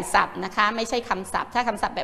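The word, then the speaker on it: คำศัพท์: ภาษา อังกฤษ นะ คะ ใช้ พ. พาน เป็น ตัว สะกด นะ คะ ส่วน ศัพท์ เวลา เขียน อ่า เด็ก ๆ ไหม อ่ะ ศ. ศาลา ก็ จะ เปลี่ยน เป็น เสือ เพราะ มัน ออก สี สอน นี้ ก็ สำคัญ นะ คะ และ ขอ พาน ก็ เปลี่ยน ไป เป็น บอ ใบ ไม้ เป็น ทรัพย์ ทรัพย์ ๆ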